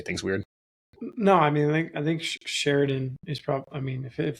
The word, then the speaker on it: Sheridan: Is that how you say it? Yeah. Sheridan. I've always wondered that. It's like Sheridan, Sheridan. Sheridan. At least it's the way like Wyoming people say it.